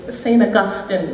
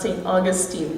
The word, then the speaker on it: Saint Augustine: one in the introduction it's saint augustine not saint augustine but that's just the way we say things so i've really never